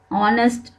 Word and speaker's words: honest: Even though these words begin with H, a consonant, when you pronounce them, the H is silent.